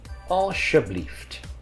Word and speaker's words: alsjeblieft: Als je blieft. Now you see an SJ here, so you're going to pronounce it like an SH. So alsjeblieft.